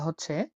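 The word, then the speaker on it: ح: হা এটা গলা দিয়ে বের করতে হবে।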